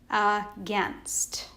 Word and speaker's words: against: against that a i and against would be pronounced a but in this word these letters stand for the e sound do you hear it against okay all right let's